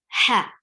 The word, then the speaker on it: ح: And the easy way to pronounce it is to just remember what you do when you try to clean any mirror or your sunglasses or your something. You say yeah, the same sound is there.